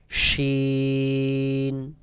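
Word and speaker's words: شين: শিন উচ্চারণের ক্ষেত্রেও বাহিরের দিকে বাতাস বের হবে, তবে মুখের ভিতর একটা গালের ভিতরে পুরো বাতাসগুলো গালের ভিতর থেকে আসবে। যেমন শিন, শিন, শিন।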